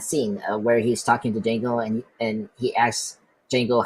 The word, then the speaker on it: Django: That's him in that scene where he's talking to Django, and he asks Django how to spell his name, and then after Django say the D is silent, and he say I know.